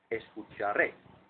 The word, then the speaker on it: escucharé: Escucharé. So your intonation has to go up on the last syllable of the word.